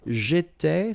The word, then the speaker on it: j'étais: J'étais, so final S not pronounced.